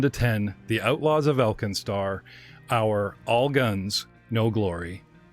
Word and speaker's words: Alkenstar: The city-state of AlkenStar, pronounced AlkenStar, has gained an unexpected level of power despite